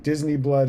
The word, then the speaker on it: Disiniblud: It's spelled Disiniblud for obvious copyright reasons, but Disney Blood is how it's pronounced.